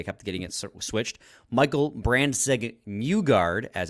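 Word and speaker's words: Brandsegg-Nygård: Michael Brandseg Newgard, as it's pronounced, apparently, according to Tony Ferrari.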